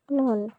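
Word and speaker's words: نون: না না না না, আমি করব। 1 2 3। হ্যাঁ বন্ধুরা, এটা হলো নুন। এটা হলো নুন। জিহ্বার আগা তার বরাবর ঠিক উপরে তালুর সঙ্গে লাগাইয়া এটা উচ্চারণ করতে হবে, নুন।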